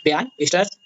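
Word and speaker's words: Bjarne Stroustrup: इसको प्रोनाउंस करने में थोड़ा सा दिक्कत होगी, इसका एक्चुअल प्रोनाउंसिएशन आप देख लीजिएगा, बियान स्ट्रस, ठीक है, ये होता है।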